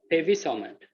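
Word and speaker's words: pegvisomant: this down heavy samantha there is a g here that is silent huh baby summoned right the g is island right make me something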